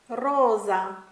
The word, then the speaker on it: rosa: was the letter s often when s is singular it has a Z type sound like Rosa Kaza but when the S is double it has a clean clear sound rasa casa benissimo thank you so